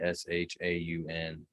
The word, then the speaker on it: Jayeshaun: And it's Jayshawn, Jayshun. Is that correct? J-A-Y-E. Spell it for me again. J-A-Y-E. Jayeshaun.